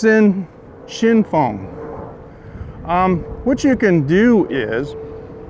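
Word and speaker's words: Xinfeng: you know so yeah the place is called Shin Fong and in in pinyin it's spelled Xin f e in on the side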